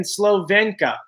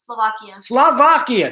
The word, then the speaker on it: Slovakia: How do you say that? Slovakia. Slovakia.